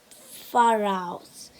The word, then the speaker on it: pharaohs: You say it like this, pharaohs.